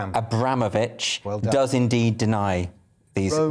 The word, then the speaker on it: Abramovich: he does you know abramovich that's how you pronounce this abramovich does indeed deny these